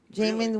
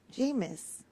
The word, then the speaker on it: Jameis: Jamin Winston, yeah. My son. How do you say his name again? Winston. His first name? Jameis.